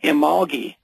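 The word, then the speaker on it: Imbolc: one is February 2nd which is uh imogi actually it looks like imal when you spell it h well I IM b o c that is also called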